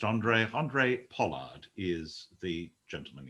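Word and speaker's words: Handré: help us andre pollard spelt with an h but pronounced andre andre pollard is the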